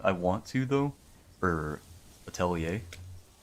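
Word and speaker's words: Atelier: I kind of I want to though for Attelier Italier I think it's pronounced Italier.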